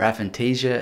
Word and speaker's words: aphantasia: thought that you have aphantasia or aphantasia as it sometimes pronounce which is the inability